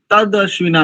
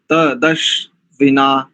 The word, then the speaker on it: तदश्विना: त दश त द तद अश्विना नहीं करेंगे तद त द त दश त दश विना पद छेद में आ